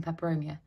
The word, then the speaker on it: Peperomia: I'm actually gonna, I did make a little video about propagating Peperomia. Yeah, propagating Peperomia. That sounded like I just said it wrong, but I did say it right. Propagating Peperomia.